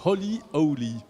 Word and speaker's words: Holy Owly: Cofondatrice de Holy Owly. Je l'ai bien prononcé?